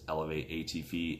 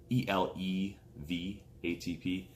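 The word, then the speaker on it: ElevATP: Now, it's not actually pronounced Elevate ATP. It's ELEV ATP.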